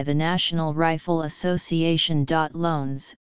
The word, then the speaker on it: Lones: program sponsored by the National Rifle Association dot loans pronounced loan is s started shooting at age 12 by his